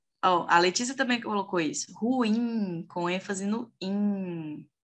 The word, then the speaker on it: ruim: é oxítona perfeito gente ruim é pronunciado dessa forma que eu disse aqui agora para vocês não é ruim é ruim a sílaba forte é o certo próxima aqui vamos ver